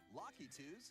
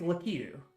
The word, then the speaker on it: Lakitu: Goombas, Koopa Troopas, Boos, Locky-Toos, and other familiar foes. That cannot be how it's pronounced. It's Lakitu. Or Lakitu. Okay.